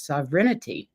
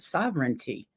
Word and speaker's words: sovereignty: sovereignty do you know I have pronounced this wrong my entire life I've always thought it was sovereignity not sovereignty who knew dyslexia I